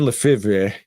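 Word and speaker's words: Lefèvre: Uh there is a very good book called uh reminiscences of a stock operator by Edwin Levra Lefiv. It's like Brett Favre, right? It's spelled weird. Uh but Edwin Lefra and it's supposed to be uh based on Jesse Levermore.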